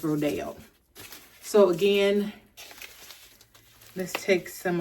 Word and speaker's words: Rodeo: I was saying Rodeo, but it's Rodeo.